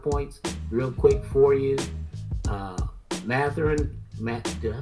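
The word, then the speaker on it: Mathurin: Matherin, did I say his name right?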